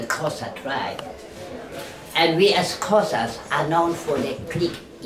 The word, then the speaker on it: Xhosa: And we as Xhosas are known for the click in the language. Xhosa is spelled with an X, and the X is pronounced similar to how you push on your horse.